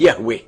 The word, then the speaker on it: Yahweh: himself as I am, which in Hebrew is pronounced Yahweh.